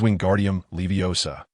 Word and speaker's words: wingardium leviosa: The incantation for the levitation charm is wingardium leviosa. He articulated the spell with careful inflection. Remember it is wingardium leviosa. Pronouncing the incantation accurately is crucial.